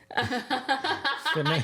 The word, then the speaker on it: phenomenon: Phenomenon.